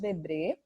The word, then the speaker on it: Debret: devem ter visto aí que o nome é diferente né explica a pronúncia jean-baptiste debré foi um pintor francês tá então quando o